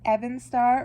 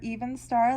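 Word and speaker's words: Evenstar: of the rings um i think it's pronounced evan starr or even star like the the elvish amulet and yeah i found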